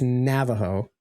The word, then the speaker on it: Navajo: Do you know how some people pronounce Oregon Oregon? Mhm. And Nevada. It's the same with Navajo. It's Navajo.